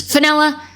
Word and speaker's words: Fenella: I love you, Fenella, for your name that rhymes with vanilla, for you. All right. She said she has been attacked online and people are losers. Fenella, who attacks somebody who doesn't want to shave their armpits?